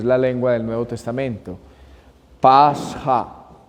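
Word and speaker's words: πάσχα: Pasja, se dice, Pasja.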